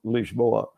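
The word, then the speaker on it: Lisboa: the if there is such a thing as standard Portuguese it's would be called leashboa you know I love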